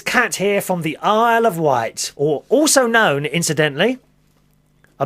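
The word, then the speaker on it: Isle of Wight: cat a of white is spelled i s l e of o f white w i g HT also known by some people here on the mainland as izy widget izy widget aisle izy of widget white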